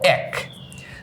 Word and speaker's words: এক: হওয়ার কথা ছিল এ, উচ্চারণ হবে এ আর ক, কিন্তু উচ্চারণ কি তাই হয়? উচ্চারণটা হয় এরকম, এটার উচ্চারণটা হয় এরকম যে স্বরেয় আকার জফলা ক, এক।